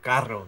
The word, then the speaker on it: carro: Yeah, because sometimes that languages you gotta hit them R's right. It don't sound right. That You shit, just sound like a dumb American. like car, like carro. You know what I mean? Like, you gotta say it like that. Yeah, see, you gotta have that rolling R.